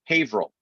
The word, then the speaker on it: Haverhill: And when I was living in Massachusetts, I was dating somebody in the town is pronounced Haverhill. And it's not spelled like that, but it's pronounced like that.